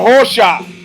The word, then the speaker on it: Rosa: got Carlos Eduardo Rosa if you a fan of Portuguese you pronounce it HOSA Tado comes from fla